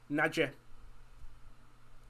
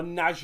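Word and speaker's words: Nagy: Nadja. Or Naj as it's pronounced, I think.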